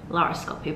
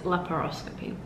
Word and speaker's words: laparoscopy: I realized I was saying it wrong in like all the other clips. I was saying laryngoscopy, but I think it's laparoscopy.